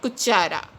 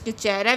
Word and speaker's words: cuchara: And if C is used with U, O and A, it is pronounced as K, just like cuchara. Here C is used with U, so it is pronounced as cuchara, which means the spoon in Spanish.